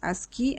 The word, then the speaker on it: ASCII: scheme the first one is called ascii the pronunciation is ascii american standard code for information interchange the second